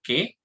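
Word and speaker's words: כְּ: Tenemos la preposición que se escribe con una kaf, un puntito de agesh y un sheba abajo, se pronuncia como que.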